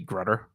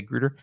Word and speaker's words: Grutter: the the greater dis i'm saying greeter but it might be grutter um but it looks like it should be grunder if i follow the rules of pronunciation but grunder bothers me as a word so i'm going to say grooter unless someone corrects me uh anyway the